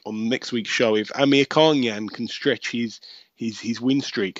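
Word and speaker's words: Amirkhanyan: So that's A-R-A-M, Aram, and his last name is Amir Khanyan. And I promise you, it is spelt exactly the way our very own Amir Khan spells his name.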